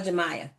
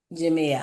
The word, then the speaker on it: Jamia: Is it Jamia or Jemiah? It's Jamia. Jamia.